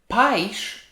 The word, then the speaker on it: pais: a skirt when we always say another one paich is parents but paige it's country so the